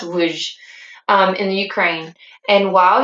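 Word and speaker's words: Lwów: He worked in the sewers in it's pronounced Luj, in the Ukraine.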